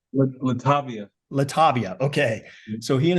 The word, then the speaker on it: Latovia: while uh he and his wife and it's latovia right I'm pronouncing that correctly Latavia Latavia okay so he and his wife Latavia